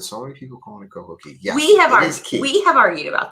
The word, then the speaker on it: Coco Cay: So it's Coco Cay. Yes. But anyway, because it rhymes with perfect day.